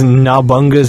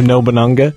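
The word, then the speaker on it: Nobunaga: Graboid says Nabunga's ambition instead of Nobunanga.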